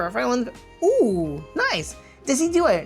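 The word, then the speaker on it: Decidueye: And for our final one, ooh, nice desi. Decidui. I always I always say it wrong. I say desi, but decidu is what I've heard as well.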